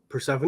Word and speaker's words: Persephone: the name of uh persephone persephone persephone is that is that legit that's the pronunciation that's legit yeah okay i don't know